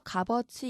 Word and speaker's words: 값어치: 자, 이 형식 형태소이지만 실질 형태소가 붙을 때와 마찬가지로 시옷이 탈락하고 비읍만 남고 이것이 다음 음절로 옮겨져서 값어치 이렇게 발음해요.